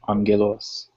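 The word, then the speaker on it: ⲁⲅⲅⲉⲗⲟⲥ: But whenever you have two of the gammas next to each other, the first one is always pronounced as an N. So this word would be angelos.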